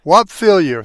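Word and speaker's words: Whop Philyor: And I hope I'm pronouncing it right. Whoop Philyor? Whop Fillier. Whop Fillier.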